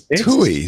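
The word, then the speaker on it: Thy: The last one was Tui, spelled T-H-Y.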